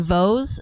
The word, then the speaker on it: Vos: It's called Vos, spelled like toes with a V for vegan.